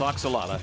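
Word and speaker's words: ajolote: spelling of oxala it it doesn't look like what it sound it is a j o l o t e but that's pronounced oxala I did a lot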